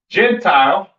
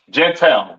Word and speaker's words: Gentile: Gentile, right? Pronounced in the Hebrew, Goya. Goya. The Yiddish man says Goyim or Goyim or whatever the hell he says. That's not the proper pronunciation for the word Gentile in Hebrew. It is Goya, all right?